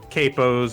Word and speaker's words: capo: It's pronounced capo. It's the Italian word for head.